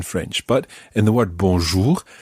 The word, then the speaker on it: bonjour: sound for bonjour now there's also this strange r at the end for english native speakers they are at the end of bonjour is quite tricky to pronounce and we'll be spending